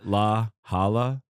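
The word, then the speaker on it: La Jolla: o l l a how do you think you pronounced that laala in a Hispanic area is La Hala is it L A it's l a space j o l l a it's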